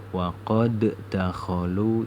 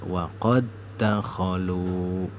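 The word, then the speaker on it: وقد دخلوا: Bacanya yang pertama itu dihilangkan, huruf dal yang sukun ini dihilangkan, jadi bacanya yang di depannya waqad dakhalu. Jadi tidak boleh dibaca waqad dakhalu, itu tidak boleh, bacanya harus waqad dakhalu.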